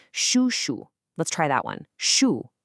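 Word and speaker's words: 叔叔: For a man, you'd say shu.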